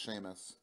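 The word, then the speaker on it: Seamus: CMS seen this but I think it's pronounced Sheamus like the wrestler yeah whatever that's Julian's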